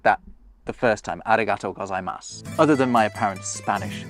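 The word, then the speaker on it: ありがとうございます: that the first time, arigato gozaimasu, other than my apparent Spanish accent? I didn't pronounce that U that you can see at the end. And that's because you don't.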